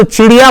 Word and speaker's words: چڑیا: بالکل غلط ہے. یہ صحیح لفظ نہیں ہے. تلفظ صحیح کر لیجئے. اس کو چڑیا بولنا چاہیے. اگر چڑی بولتی ہے تو یہ غلط تلفظ ہے. چڑیا اس کو کہنا چاہیے.